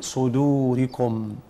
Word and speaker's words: صدوركم: يبقى صدو ولا صدو؟ صدور. لما اجي انطق الدال ارجع ببقي لورا شويه ابتسامه الى الداخل، صدوركم.